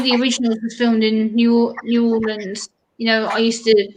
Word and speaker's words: New Orleans: told me they're from New Orleans. I was like, "Oh, New Orleans." They're like, "No, it's called New Orleans."